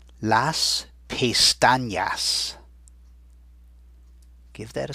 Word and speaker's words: pestañas: the tilde, over it, it actually makes that letter sound like an NY, sort of the way we pronounce the N in the word senior, and you already know señor. So it's got that sound in it.